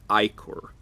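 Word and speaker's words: ichor: it I know that the official dictionary pronunciation of the word is icor not icker however the dictionary is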